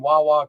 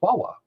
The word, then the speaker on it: Wawa: It's Wawa. Oh, it's actually, it says it's pronounced Wayway. Wayway. We've been saying it wrong. Nobody calls it Wayway. That's our fucking Philly accent.